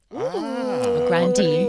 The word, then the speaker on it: Grande: Grande. That's correct pronunciation.